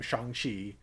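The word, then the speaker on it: Shang-Chi: history oh this is this is how you actually say my name shanghi and she can make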